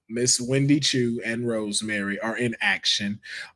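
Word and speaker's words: Wendy Choo: Miss Wendy Chu and Rosemary are in action.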